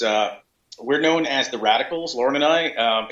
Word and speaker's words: Radikal: we're known as the radicals Lauren and I um it's ww. theer radicals. org and it's the radicals is spelled r a d i k a LS so it's a k instead of a c yeah and